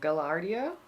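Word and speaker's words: Gaillardia: we have the blanket flower this is a gallardia is how you say it these are a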